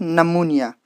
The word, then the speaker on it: pneumonia: this word pneumonia here per sound is silent because this sound pattern is not allowed so we have dropped this sound per sound and we pronounce it as pneumonia from in the same